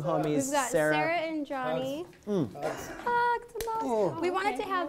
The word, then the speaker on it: Gianni: I got yelled at the other day because I was pronouncing your name Gianni. Oh, okay. And it's Johnny.